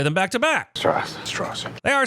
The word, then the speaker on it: Strauss: Strauss, It's pronounced straws. I've gone back and listened to Oppie say straws 5 times now, and I swear he says straws.